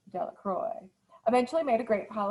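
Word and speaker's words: Delacroix: jones and dixie de la croix the villagers pronounced this name de la croix eventually made a great pile of stones in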